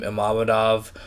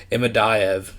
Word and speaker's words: Imadaev: And in his past few fights, it's really been on display against Salim Imamadov. Jesus Christ, I butchered that name. Imadaev.